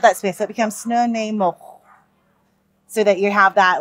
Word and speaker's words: Snuneymuxw: We have Snuneymuxw. Snuneymuxw.